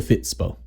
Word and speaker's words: Fitspod: working title is the fits PO the D is silent but yeah so talk